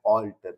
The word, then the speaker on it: altar: Alter and alter. आज के confusing pairs का ये last pair है. Alter and alter. Pronunciation 100% same है. Spelling में end में a और e का difference है.